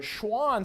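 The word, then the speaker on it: Schwann: know about you but Schwan sounds a lot like a different animal I've heard of before kind of sounds like the word Swan right Swan is an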